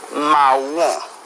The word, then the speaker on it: marron: Marrón. La pronunciación es realmente similar al español, pero requiere suavizar un poco la R, ¿bien? Y la nasalización al final se reduce.